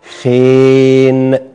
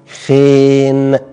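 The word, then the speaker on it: ϧⲉⲛ: ناخده في كلمة بقى أهو، آدي الخاي، وبعدين نحط وراه الحرف ده اللي هو إيه؟ الأي، بينطق إيه خفيفة، وبعدين هناخد وراه الحرف ده اللي هو الني اللي بينطق نون، يبقى خين، جدعان، خين، خ ي نون، خين، زي ما بنقول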